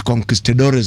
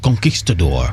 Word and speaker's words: conquistador: When the Spaniards first went to Latin America, Spanish concistadores as they called, you'd pronounce it better. Conquistador.